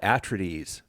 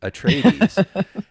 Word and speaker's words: Atreides: I think I used to call it Atreides, Paul Atreides, and Arrakis was the planet, but it's Arrakis and Atreides, and so you kind of have to, rethink.